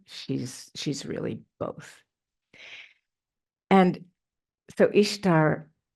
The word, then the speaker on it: Ishtar: And so Ishtar is pronounced Easter in a lot of dialects, right?